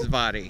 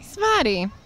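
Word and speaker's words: Svaty: Spotty. Svati.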